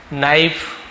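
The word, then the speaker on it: know: के साइलेंट रहता है जहां पर भी के एन एक साथ दिखे ज्यादातर के साइलेंट रहता है इसे पढ़ते नहीं नो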